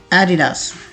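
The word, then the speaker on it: Adidas: तरह से होती है, एडिडास। इसके 3 सिलेबल्स बनाए जाते हैं, ए डी दास, एडिडास, एडिडास।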